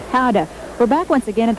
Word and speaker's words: Gouda: how do you say gouda powder no no how do you say good good how to cars very simply in dutch gouda is pronounced hada we're back once again